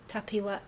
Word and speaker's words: Tapiwa: Tapiwa. Come on, help me out. Tapiwa. You said 3 syllables. Tapiwa. No, I'll get it. There's a Birmingham version Tapiwa. of my name. Am I doing the Birmingham version?